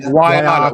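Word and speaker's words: Waiata: How do you say the next one? Wyatta? It's like Wyatta. Like Wyatta. Okay. Like Wyatta. Wyatta.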